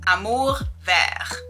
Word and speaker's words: Amour Vert: This brand is called Amour Vert, which means green love in French, but I'm gonna teach you the proper pronunciation today. It's Amour Vert.